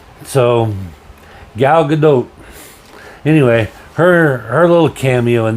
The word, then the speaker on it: Gadot: She pronounces it Gal Gadot. So the long O. So Gal Gadot.